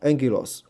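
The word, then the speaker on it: ἄγγελος: 啊 angel 啊，这两个 gamma 我们刚刚讲了嘛，它那个就发这个 n 鼻音了哈啊 angel 哈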